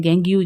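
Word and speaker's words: gangue: और जो गैंग हमारे पास होते हैं, गैंग्यू जिसे कहा जाता है, कुछ प्रोनाउंसिएशन में इसको गैज भी कहा जाता है।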